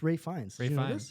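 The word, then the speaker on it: Ralph Fiennes: Ray Fine? Ralph Voldemort? Yes, thank you, Guys, Voldemort. Ray Fine. Ray Fine is. I didn't know about this. You don't pronounce the PH. It's Ray Fiennes.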